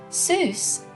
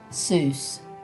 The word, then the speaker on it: Seuss: dr seuss fun fact soos is supposed to rhyme with voice not goose the doctor never minded